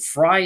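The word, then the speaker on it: Frye: step cemetery we also investigated a location called fry cemetery and we'd actually been called into that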